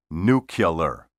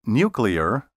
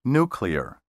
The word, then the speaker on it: nuclear: word nuclear don't say nuclear think of nuclear as a combination of new or new and clear say nuclear or nuclear i'm going to run